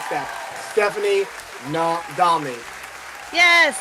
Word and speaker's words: Nadolny: Stephanie Nadolny. Yes, Nadolny, you got it.